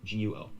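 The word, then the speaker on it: 国: There's a system, for instance, called GR, which stands for Guo Yu Rou Ma Zi. And you would say, have first tone in Chinese for Guo, Guo, G-U-O. Then Guo, second tone, should be country, like Guo Yu, country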